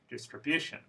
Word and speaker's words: distribution: word stress ready verification distribution contamination I hope you noticed that word stress is in the fourth syllable so again the word stress in all of these words is one syllable before the suffix one syllable before the